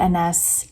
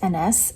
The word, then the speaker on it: Agnes: Spelled Agnes, but pronounced Ines, I think. Or an Inez, maybe with more of a Z sound, is Hamnet's wife.